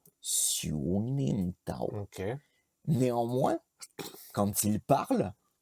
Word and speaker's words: Siu Nim Tau: Et Et en quoi c'est un raccourci de dire lim au lieu de nim? je pense que en termes de prononciation, c'est plus facile de dire Xiulintao que dire Xiunintao. Tu vois, Ah, ok, ouais.